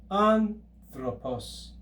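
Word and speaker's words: ἄνθρωπος: If we break this into syllables, we have an, thro, pos. Anthropos. Notice that the letter ro, remember, is a liquid, and here it is forming a blended compound consonant with the consonant theta.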